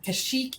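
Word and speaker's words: Kashyyyk: like that and you hear the pronunciation as kashik right cash it right and then episode three comes out everybody's calling it Kash Chic right and kashyyk is the canonical pronunciation it's the one that already is supposed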